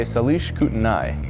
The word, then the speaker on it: Salish Kootenai: And you guys will take them on Saturday night, but Friday night you guys will play Salish Kootenai. Yes. I think I pronounced that right.